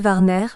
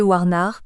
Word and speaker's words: Warner: du Ponant, et Monsieur Warner, gentilhomme anglais, lequel nos Français nommaient Monsieur Warnard pour faciliter la prononciation du W que notre langue ignore, ont en un même